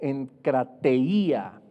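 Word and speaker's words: ἐγκράτεια: La templanza viene del griego enkrateia, con K y con I, con acento en la I, que significa dominio propio.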